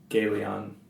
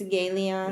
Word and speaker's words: Gelion: Is it Gelion or Gelion? It's Galeon. It's Galeon? Yeah. Okay. All right. So Sirion and Galeon.